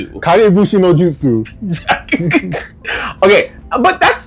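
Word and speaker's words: Kage Bunshin no Jutsu: Kag noushu. I know I butchered that name. Kag noushu. It's kag kagushin nojsu. Kagushin nojutsu.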